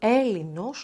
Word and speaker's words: Ailinos: A different version wants the word "Elinos" to be written with the diphthong "ai" (pronounced as [e]): "Ailinos".